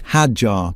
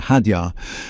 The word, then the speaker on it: Hadjar: It's Hajar, by the way, not Hadar.